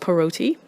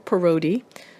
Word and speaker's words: Parotti: of my foreign surname, the Parotti name, or locally it's pronounced Parotti or Parotti.